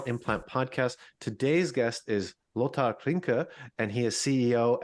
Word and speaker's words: Lothar: and by the way congratulations for pronouncing my name correctly in German so as you can